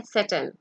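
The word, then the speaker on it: Satan: सेटन, जिसको हम उर्दू में शैतान कहते हैं. The correct pronunciation is सेटन.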